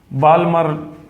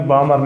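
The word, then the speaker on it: Balmer: क्योंकि इसके बाद जो दूसरी सीरीज़ है जिसका नाम मैं लिख रहा हूँ आपके सामने, बाल्मर वैसे प्रोनाउंस बामर होता है, बामर सीरीज़।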